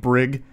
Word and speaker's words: Brig: I knew a kid growing up named Brig, Hard G, which I actually like better, though more likely to be mispronounced.